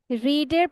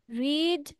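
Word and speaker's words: read: স্কুলার পর miss yes আই এডি হ্যা আর হবে নাকি আর রিডের পাস্ট টেন্সের স্পেলিং সেম রিড রিডি হবে কিন্তু উচ্চারণ করতে হবে আমাদের রেড ঠিক আছে স্পেলিং হবে আরই এডি কিন্তু উচ্চারণ হবে রেড past and past participle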